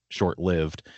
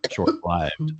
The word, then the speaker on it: short-lived: Although technically, I mean, if you're going to be historical, you are correct and I'm wrong. Right. If you're going to be like modern, which I am a modern kind of woman, I would argue that because you're seeing it L-I-V-E, you do think live as opposed to live because it's not life anymore.